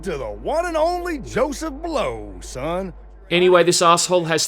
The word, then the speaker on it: Joseph Bellows: you'll meet the owner, Joseph Bellows, pronounced blows even though it's spelt bellows. You got any jobs that pay well? You're talking to the one and only Joseph Blow, son.